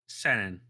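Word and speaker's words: 千円: Senen.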